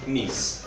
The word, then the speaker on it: knees: Então 2 E som de K, não pronuncia knees.